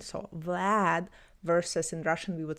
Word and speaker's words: Vlad: A is more closed. A like Arctic Vlad. And in English usually we say Vlad. Vlad. I I mean I I'm doing the best I can with my accent, but it's um a is in between a and um is in between a and e. So it's like long and more open.